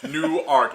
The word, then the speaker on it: Newark: from Jersey uh they they act like the W isn't there you know like they just say newer and I'm like no